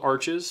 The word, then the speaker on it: Arches: I prefer Arch platine it's spelled arches but they're French so you say it's something close to Arch I'm an American I